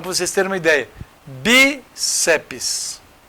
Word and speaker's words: bíceps: vocês terem uma ideia bíceps tem gente que acha que tem três sílabas bceps não até na hora de você pronunciar aparece em TR mesmo não é não bíceps sabe por quê Porque toda sílaba tem que ter vogal Se eu colocar c e deixar o PS de lá cadê cadê a vogal para o PS não tem então é bíceps tem duas sílabas só porque aqui teria